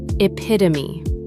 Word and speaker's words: epitome: 4 syllables. The final E is not silent, pronounced epitome.